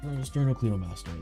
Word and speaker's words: Sternocleidomastoid: Sternocleidomastoid.